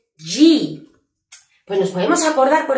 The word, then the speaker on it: G: ¿Cómo acordarme de que la J se pronuncia J y no confundirla con la G, que es G?